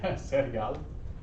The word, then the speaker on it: cereal: I think it's el cereal, but I'll double check. Same spelling, just Spanish pronunciation. Let me make sure though. Yeah. El cereal. It's hard to say. No, it's only one R.